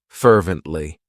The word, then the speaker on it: fervently: It has three syllables and the stress is on that first syllable. Fervently.